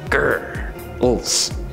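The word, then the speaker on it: Grrls: That's spelled G-R-R-L-S, like grrr, ulz.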